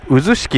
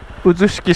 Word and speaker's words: 笛吹: a 8 ですね笛吹くと書いて渦式って読むんだと思います多分ですけどね